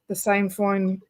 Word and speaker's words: sainfoin: How do people move forward if, so just having that one plant, the sainfoin, how do you say it?